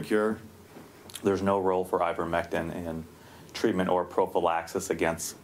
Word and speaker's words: ivermectin: So it'll be my first mispronunciation, I'm sure, of the day. Is it ivermectin?